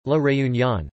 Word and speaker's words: La Réunion: Réunion, French, La Réunion, pronounced le-e-dot-yinge, listen, previously Île Bourbon, is an overseas